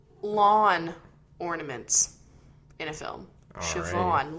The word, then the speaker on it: Siobhan: Siobhan, lawn. It rhymes.